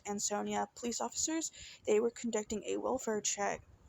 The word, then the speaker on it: Ansonia: And when police, the Ansonia, I believe it's pronounced Ansonia police officers, they were conducting a welfare check at Christine Holloway's Myrtle Avenue home.